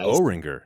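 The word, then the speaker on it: Oringer: a firsttime guest o ringer did I pronounce that right you did you pronounced it right it's like a compound word that makes no sense just like o and ringer combined but very excited to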